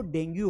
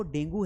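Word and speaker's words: dengue: लेकिन क्या वो डेंगू है, what is it's right pronunciation, वो है डेंगी। क्या है, डेंगी। जी हाँ, वो डेंगू नहीं है, डेंगी है, डेंगी। इसे डेंगी पढ़ा जाएगा।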